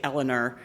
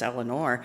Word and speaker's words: Eleanor: to mispronounce my name evidently from the east coast they say Elellanar which drives me nuts but it's Eleanor and uh Carlton I